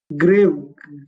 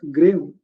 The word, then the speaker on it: grave: This is grave. We pronounce it as grave.